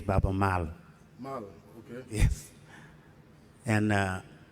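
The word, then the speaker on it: Baaba Maal: Babalal. Thank you very much. I just want to correct something because to pronounce the name is Baba Mal.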